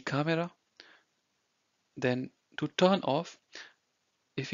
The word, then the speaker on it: Kamera: Okay, it's not camera, it's die Kamera.